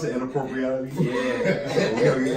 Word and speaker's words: Inappropreality: Oh man, it's how you pronounce it, inappropriality.